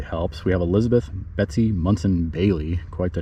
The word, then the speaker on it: Munson: We have Elizabeth Betsy Munson Bailey, quite the name. She is from Hartford, Connecticut, born in 1804. It's Munson, not Monson, by the way, on her headstone.